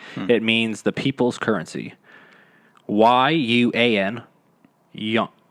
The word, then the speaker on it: yuan: YUAN. Yuan. See, it's like buoy. It's like trying to spell buoy, but like you're pronouncing it.